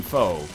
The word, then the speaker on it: pho: This one restaurant we go to, it has amazing pho. I know it's pronounced pho, but whatever, okay?